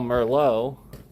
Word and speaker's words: Merlot: Well, for the same reason you write when you when you spell Merllo, it's not M E R L O W. It's actually lot.